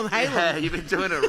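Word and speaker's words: Gyllenhaal: Jake gyllen Hall uh it's not gyllen Hall it's Jake Yen Halo no way this is stupid this isn't right listen why do he come out of the Woodworks after 20 years sorry it's y Hal you've been doing it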